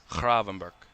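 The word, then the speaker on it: Gravenberch: Since I've learned how to pronounce his name, I love saying it now. Kravenber.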